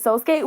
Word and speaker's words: Sosuke: They pronounced it Sosuke, which I looked it up, and it actually is the correct Japanese pronunciation of that name.